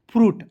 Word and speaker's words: fruit: UIT, तो इसे देखिए आई को साइलेंट कीजिए, यू को छोटा ग्रुप में प्रयोग कीजिए, टी को टॉ लिखेंगे, हो जाएगा फ्रूट।